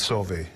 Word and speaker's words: Sauve: EVEN MY MAIL SOMETIMES IS SWERVE...SAVE...BUT ITS SOH-VEY!"